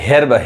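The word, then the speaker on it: herb: यहां पे देखिए अब यहां पे हर्ब हे नहीं पढ़ाए अब यहां पे जो ई का साउंड है वो क्या है अ है यानी हर्ब क्या पढ़ाए का ये हर्ब समझ में आ रहा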